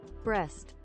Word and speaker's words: Brest: Google, how to pronounce this? Brest.